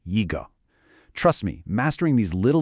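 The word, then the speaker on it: 一个: The number one e is a first tone, but when it comes right before a fourth tone syllable like g, it actually changes to a second rising tone. Y. So, we say yiggo.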